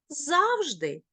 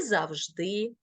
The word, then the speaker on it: завжди: з наймилозвучніших мов світу деякі слова в українській мові вони можуть наголошуватися бінарно подвійну тобто мати подвійний наголос тож послухаємо і подивимося можна говорити завжди і завжди мабуть і мабуть помилка